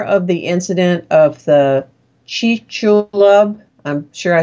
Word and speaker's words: Chicxulub: I know you know how to pronounce Maya. You did it, Chicxulub.